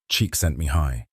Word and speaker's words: Csikszentmihalyi: Psychologist Mihaly Csikszentmihalyi, pronounced roughly Csikszentmihalyi, spent decades studying this experience.